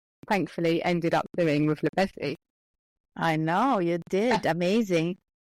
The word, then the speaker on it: Bézy: Bézy. Almost busy, but Bézy.